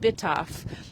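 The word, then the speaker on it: Bytów: And that sister city is called Bitaf. It's not spelled like that, but that's what it's that's what it's called.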